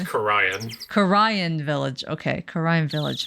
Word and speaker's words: Khura'in: It's pronounced Khura'in.